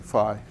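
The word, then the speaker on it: fie: it's what you is it spells phi f-i-e f-i-e phi phi on you fee-fi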